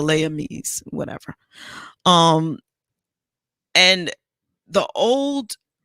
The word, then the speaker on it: Les Amis: amis but they called it was spelled l-e-s but they pronounced it the layami's whatever um and the